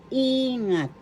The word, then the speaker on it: ingat: in English e example ingat ingat ingat take in English first syllable e second syllable ngat the accent is in the first syllable ingat ingat ingat take